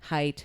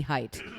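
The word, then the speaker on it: Haidt: Weston Jonathan ha uh height I always pronounce it hey it's not it's definitely height h a i I need a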